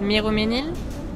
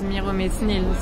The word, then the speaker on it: Miromesnil: shouldn't pronounce the S, like the metro station called Miroménil. Don't know if you know it, on line 13. Yeah. He says in the film, no one says Miromesnil, so you shouldn't say Metzrin.